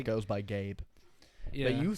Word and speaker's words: Gabe: It's not Gabe Vincent. I said Gabe. It's Gabe. You gotta pronunciate the B.